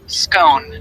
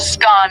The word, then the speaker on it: scone: The pronunciation of scone, both scone rhyming with gone and scone rhyming with bone, are accepted pronunciations, though regional variations exist.